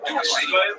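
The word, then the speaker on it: Dulce: place there near the small town of Dulcie, pronounced Dulcie, New Mexico.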